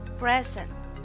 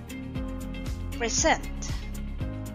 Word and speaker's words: present: present his proposal tomorrow in the first sentence i gave jason a present the stressed syllable is prayer and that makes it a noun present which means a gift in sentence number two jason will present his proposal tomorrow the stressed syllable is set present which means it is a verb now how about the